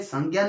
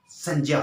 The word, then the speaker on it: संज्ञा: ठीक है, यहाँ पर जो संज्ञा शब्द का भी हम उच्चारण अशुद्ध कर देते हैं। संज्ञा नहीं होता बल्कि क्या होता है? संज्ञा होता है।